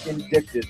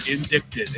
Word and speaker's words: indicted: never heard the word indicted before. Well, that is right here. Indicted. Every single one of these. Indicted. Indicted. That's That's how you pronounce it as indicted. Indicted. The C is silent.